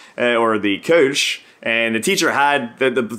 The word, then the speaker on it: Kölsch: And one of them is the Kölsch, or the Kölsch, and the teacher had the slide on the board, and it said, pronounce the O like in Biff, and I was like,